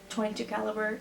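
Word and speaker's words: .22 caliber: point two to calibre I'm pretty sure you just said the number not the point so like 357 Magnum and a 22 caliber to 22 caliber and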